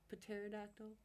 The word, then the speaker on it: pterodactyl: the bathroom why because their pee is silent what you know PT e r pterodactyl we just ain't getting